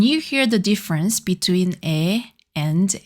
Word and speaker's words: ㅣ: Your mouth is a bit open and your tongue touches just behind your lower front teeth. Say it with me. E E.